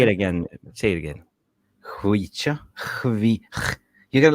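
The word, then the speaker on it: Khvicha: But, if we get Chvicha into Manchester, everyone's going to learn his name, like Chvicha? Say it again. Chvicha. You got like you spitting. Chvicha.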